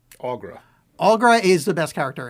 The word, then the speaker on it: Aughra: Aughra. Aughra.